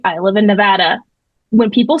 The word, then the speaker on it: Nevada, Missouri: I lived in Arkansas, but that's how they pronounce it. Nevada. It's not Nevada.